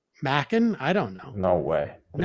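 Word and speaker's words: Macon: about mansion socialist bear it's may cunn county as in bacon god what did we say mackin i don't know no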